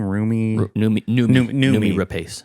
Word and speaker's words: Noomi Rapace: Noomi Rapace.